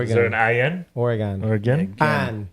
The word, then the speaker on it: Oregon: I say Oregon too I say Oregon yeah I think there's up for that's Up For Debate how you actually say that I know what spell o n wouldn't it be g o n e if it was gone yeah true yeah yeah